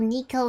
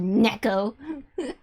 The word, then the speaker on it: neko: nico oh we god nico used to be my that's how i used to pronounce it until i took japanese classes and now it's called neko nick i like you